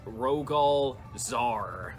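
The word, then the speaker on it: Rogol Zaar: guy here Raggles all I can never say his name correctly I'm so sorry it's Rogel czar always get the Eleanor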